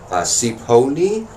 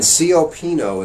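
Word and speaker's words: Cioppino: Up next we have, I don't know how to pronounce this correctly. I think it's Cipollino. Alright, the waterfront city of San Francisco is a fount of classic seafood dishes. And Cipollino is one of the most iconic.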